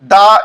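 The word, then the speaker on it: the: এখানে দাদি এর মাধ্যমে দা এই ওয়ার্ডটিকে বোঝানো হয়েছে। এই ওয়ার্ডটি যখন কনসোনেন্টের পূর্বে বসে তখন তার উচ্চারণ দা হয়।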